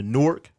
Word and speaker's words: Newark: So nah, yeah, I'm from Newark, New Jersey.